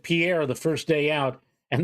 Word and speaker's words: Pierre: again I'm going through the one syllable one syllable oh uh South Dakota yeah yeah Pierre Pierre that's right it's not Pierre it's Pierre right exactly yeah and I'm glad